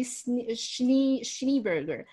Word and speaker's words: Schneeberger: So initially I was pronouncing it Gary Schneeberger. And that's acceptable too. Apparently the two E's in German are an A-Y, and it actually means Schnee, S-E-H-N-E-E, means snow in German.